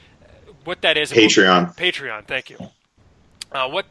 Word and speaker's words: Patreon: believe it's called a a patreon I'm probably pronouncing it wrong but uh it's p a t r e o n what that is patreon patreon thank you uh what that is is